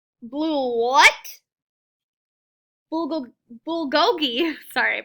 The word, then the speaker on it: bulgogi: Madison as she points at Justin's food its Bugatti blue what will go bulgogi sorry I pronounced it wrong it's Korean barbecued beef my